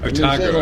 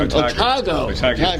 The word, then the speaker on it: Otago: Otago. Otago. Put the emphasis on the second syllable.